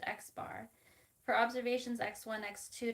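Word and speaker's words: x̄: The sample mean is referred to as a line over x, pronounced x bar.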